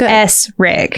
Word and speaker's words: Essrig: It's spelled phonetically like it's spelled how you say it like it's s rig.